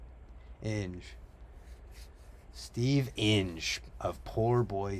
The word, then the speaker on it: Inge: Inge.